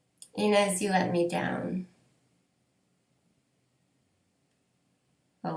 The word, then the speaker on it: Inès: There's an accent grave above the E in INÈS. So I think I'm pronouncing that correctly.